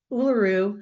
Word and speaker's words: Uluru: And Uluru, I've just pronounced it correctly, is a massive sandstone rock formation in central Australia that is sacred to the Aboriginal people.